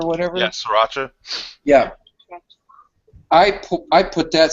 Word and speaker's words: Sriracha: I'm not that this um how what's it pronounced Sriracha or whatever yeah Sriracha yeah I I put that stuff on like